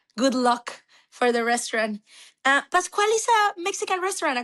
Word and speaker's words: Pascual: Well, so tell me about Pascual. Am I pronouncing it correctly?